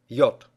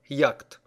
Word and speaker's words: yacht: Слово яхта на Английском Yacht – Буква A читается как твердое [O], а диграф CH не читается вовсе. Yacht – . Ни в коем случае не произносите это слово как .